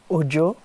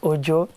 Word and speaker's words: Ojo: e actually came from Ojo uh way back in school I had this teacher uh she couldn't really pronounce Ojo she call and you know students